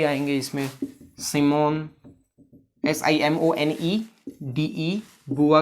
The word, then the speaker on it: Beauvoir: आपकी बुआ जी भी आएंगे इसमें, सिमोन, SIMONEDE, बुआ की स्पेलिंग है BEAUVOIR, ठीक है।